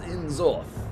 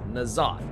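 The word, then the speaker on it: N'Zoth: As you can hear, Zonas is clearly pronouncing the old god's name as En-zoth. There is quite a difference with how Il'gynoth said it, and it was En-zoth.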